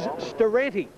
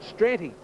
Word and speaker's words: Staranti: Now, the lady who owns this horse has told me that the correct pronunciation is Staranti. I was calling it Stranti, but I'll stand corrected.